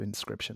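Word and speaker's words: Inscryption: what is it okay so it's it's spelled i-n-s-c-r-y-p-t-i-o-n so inscription like that uh and and it's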